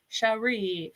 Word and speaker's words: Cherie: Thank you for pronouncing it the correct or telling me how to pronounce it. Cherie.